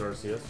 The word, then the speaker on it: Arceus: Well, I pronounce it Arceus. Yeah, you can pronounce it Arceus. I call it Arceus because that's what they called him in the movie.